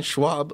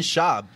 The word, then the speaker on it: Schaub: You have Brandon Schwab, or how do you say it, Guillermo? Brandon Schaub.